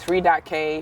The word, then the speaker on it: Free.K: So, like the whole saying itself, the way that I normally would say it would be like, Free.K, free but the K is silent, don't think too hard about it.